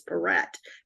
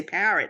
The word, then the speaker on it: Perret: My last name is Perret, P-E-R-R-E-T. And so I can't tell you how many times people say parrot. And I'm like, no, that's not how you spell it. The accent's on the second syllable, yes.